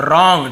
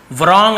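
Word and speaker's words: wrong: डब्ल्यू को तो नहीं पढ़ते, साइलेंट वर्ड है तो आर से पढ़ेंगे रॉन्ग, ठीक है। व्रॉन्ग ऐसे नहीं पढ़ेंगे, केवल रॉन्ग पढ़ेंगे, डब्ल्यू साइलेंट होता है यहाँ पे, तो ये केवल रॉन्ग।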